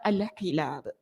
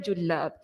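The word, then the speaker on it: الحلاب: Tapi riwayat-riwayat yang lain juga menunjukkan kepada kita cara bacaan perkataan itu adalah al-hilab, bukan julab.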